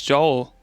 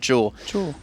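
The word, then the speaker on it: Joule: uh explained how to say this hero's name jewel like El like jees oh jeel I always I always thought it's Joel oh I'm sorry do does use electricity too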